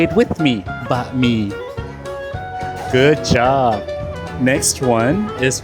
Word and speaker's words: บะหมี่: Today we're going to learn how to pronounce the name of the noodles. Firstly, egg noodle. In Thai, we call banh mi. Say it with me, banh mi.